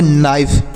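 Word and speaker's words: knife: घुंडी देखते हैं अगला के एन आई एफ ई तो के का उच्चारण तो नहीं होगा एन आई एन से नो आई से आई पढ़ेंगे एफ ई से फ तो इसे पढ़ेंगे नाइफ एन आई एफ ई नाइफ पढ़ेंगे नाइफ मतलब होता है चाकू तो के साइलेंट है तो हमने क्या सीखा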